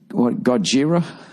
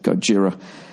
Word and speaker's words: Gojira: I'm really getting into that band fucking, Gojira? I hope I'm saying it right. It's Godzilla, but that name was taken, so they just wrote it how someone would say it with an Asian accent, Gojira.